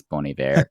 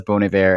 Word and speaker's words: Bon Iver: learn how to pronounce Bon Iver. And if you have never actually said that out loud, it took me a long time to realize it was Bon Iver and not Bon Iver, which was the way